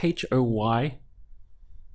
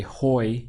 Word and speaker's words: hoy: Hoy, spelt H-O-Y, but we don't say hoy, you know, with that H sound, because it really doesn't, you don't get that in Spanish. So from here, it's just hoy, the pronunciation.